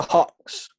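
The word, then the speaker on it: Hoix: How'd you pronounce it? The Howard? The Hawks.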